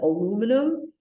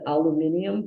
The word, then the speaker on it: aluminum: in the United States, we pronounce it aluminum. In England, they pronounce it aluminium, but it's the same thing.